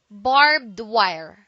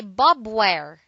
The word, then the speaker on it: barbed wire: the second word is barbed wire don't say Bob where do say barbed wire it is a noun